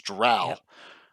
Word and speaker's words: drow: we just had to make sure that we're pronouncing them correctly so it's drow okay all righty so ed it was uh